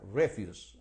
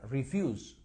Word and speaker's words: refuse: es los martes okay Y se pronuncia refuse en ese caso cuando funciona como verbo no verad cuando funciona como verbo se pronuncia refuse fíjense aquí es refuse y aquí es refuse Okay refuse aquí the Stress on the Second syllable la acentuación está en la segunda sílaba and it means o